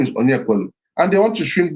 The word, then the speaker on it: Onyekwelu: I say, my name is Onyekwelu. So it's Onyekwelu. Easy, 3 syllables.